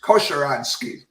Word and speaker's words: Kosieradzki: And today I have with me Kosieradzki. Did I say it correctly? Pretty close. It's Kosieradzki.